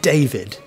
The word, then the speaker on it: David: i said my name david you'll be you'll notice that i said one syllable louder than the other i didn't say david i said david now that's a really